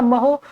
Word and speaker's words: mho: ठीक है, और उसके बाद इसका अगला मात्रक का महो है, MHO, महो। आप जो भी प्रोनाउंसिएशन करते हो ध्यान रखिएगा, महो।